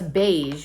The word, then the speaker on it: beige: Beige Way. rhymes with say.